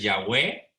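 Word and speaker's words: Yahweh: entonces yo soy o lo que nosotros pronunciamos como ya ve más correctamente es ya ve porque viene a hacer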